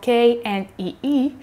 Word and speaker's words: knee: instance, which is spelled K-N-E-E, if you don't know the word before, then you have no way to guess that K is silent and that you only pronounce knee.